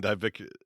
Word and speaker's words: diverticulitis: They talked about Brock Lesnar getting diverticulitis.